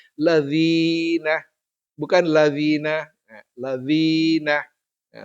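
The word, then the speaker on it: الَّذِينَ: bukan lazina tapi lazina Dal ini ketemu dalal berbaris bawah dibaca dzi lalu dia ketemu dengan ya sukun maka dia dipanjangkan dua ketukan ladzina bukan ladzina ya ladzina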